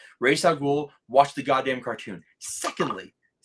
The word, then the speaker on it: Ra's al Ghul: I hated the whole Ra's al Ghul. No, it's Raish. Ra's al Ghul.